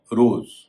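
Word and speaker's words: rose: base B ए एस रोज और base एक जैसे शब्द है लेकिन रोज में का उच्चारण ज हो रहा है बेस में एस का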